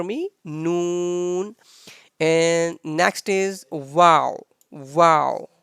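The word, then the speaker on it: واو: noon and next is wow wow so simple like in english we have wow so in arabic wow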